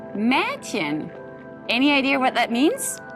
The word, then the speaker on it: Mädchen: The pronunciation of E is a little bit like an AI of the English word air. And the German example would be Mädchen.